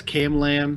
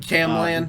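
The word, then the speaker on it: C4MLan: Yeah, I believe that's Camlan. Camlan. He uses that leet speech pronunciation.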